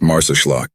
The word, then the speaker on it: Marsaxlokk: on a journey to Marx lock there are a few things you should know firstly the correct pronunciation of this charming Village is mares loock remember it's all part